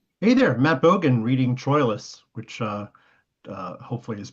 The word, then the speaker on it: Troilus: Although although I think again it's Trous and then Troilus is sometimes fits the verse better. So So there are there are variations.